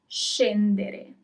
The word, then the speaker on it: scendere: If there isn't the H, then it is sh. So let's do some examples. To get off, scendere. Scendere. Okay, you pronounce all the letters.